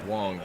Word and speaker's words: Wang: camp gary's last name reads as wang but it's pronounced wong i made that mistake